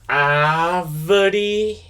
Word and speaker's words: árvore: So when you pronounce this one right here, the letter A, you realize that there's an accent. This accent in Brazilian Portuguese is called acento agudo. Acento agudo. So what it does in Brazilian Portuguese, it makes the vowel sounds more open vowel sounds. You're going to pronounce them more stronger and more open.